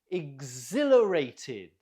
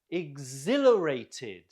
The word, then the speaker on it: exhilarated: Exhilarated. Note the stress on the zil. Exhilarated.